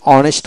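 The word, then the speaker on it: honest: যেমন অনেস্ট বানান করতে হলে ও এন ই এস টি অনেস্ট, এইচ উচ্চারণ হবে না।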